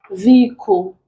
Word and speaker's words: vehicle: Vehicle, khaki, rhyme, hammer. Answer becomes hammer. The H is silent in these three words. It's not pronounced, but it's pronounced in the word hammer. Then here we have this.